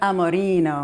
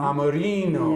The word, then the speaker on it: Amorino: Amorino. Amorino.